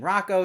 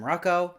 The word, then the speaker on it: Rocco: She also doesn't know how to pronounce the name Rocco. She calls him Rucko, and it's setting up